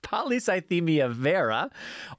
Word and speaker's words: polycythemia vera: good questions and I'll tell you how to pronounce stuff polycythemia vera or PV you can say PV PV for